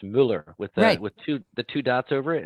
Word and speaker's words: Muller: Pete, is it hey, Muller, or Miller? It's Muller. Muller. Muller. You know, it's funny because my dad was Austrian, and in Austrian, it's Muller with two dots over it.